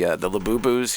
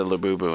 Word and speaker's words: Labubu: my 6-year-old was asking about the Labubus.